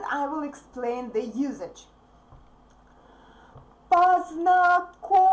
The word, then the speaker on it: Познакомьтесь: Even if you can see a soft sign there, it's pronounced hard anyway. Познакомьтесь. И, since E is unstressed here, it's pronounced like E. Познакомьтесь.